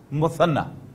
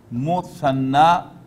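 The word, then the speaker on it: مثنى: The exact form, the exact name of the form is muthanna. Then you have jama. Pronunciation is wahid, muthanna, and jama, plural.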